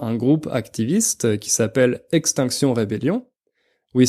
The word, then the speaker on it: Extinction Rebellion: groupe activiste qui s'appelle extinction rébellion oui c'est un nom anglais à la base mais on le prononce à la française vu que c'est exactement